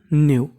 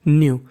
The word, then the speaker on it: know: उसका उच्चारण नहीं करते, यहाँ पे जो हमारा K है वो हमारा साइलेंट रहता है, यानी K का उच्चारण नहीं करना। न्यू, जैसे रोहन को पता